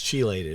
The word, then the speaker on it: chelated: It's chelated. It's spelled CH.